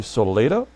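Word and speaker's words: Solaita: Jim Lytle, I think is how you pronounce it. Tony Solita.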